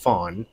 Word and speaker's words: Fang: back to the uh Fawn which is it's spelled Fang f-a-n-g but it's pronounced Fawn tribe of West Africa